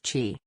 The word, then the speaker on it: chi: is believed to affect the flow of chi pronounced chi chi is the life force that permeates the